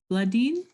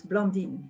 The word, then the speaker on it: Blondin: right thank you uh vladim i'm sorry if i've mispronounced it please correct me no that's okay it's blondin yes blinding okay so my